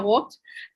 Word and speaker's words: Voigt: Gabriela Voigt, as we were trying to practice her pronunciation of her family name, Dr. Gabriela Voigt, joining us live from Vienna.